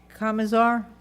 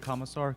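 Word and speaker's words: Kmissar: occur at the meeting Kamar I'm sorry if I have the name name wrong okay good evening you just have to state your name and address of the record yeah it's commissar k m i SS AR and my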